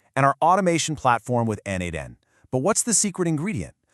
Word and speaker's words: n8n: The second piece of our puzzle is n8n, and that's pronounced n8n.